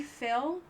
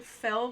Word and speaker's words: fail: Yeah, it sounds like fell, like from falling. I'm so sorry, but it's actually Fail.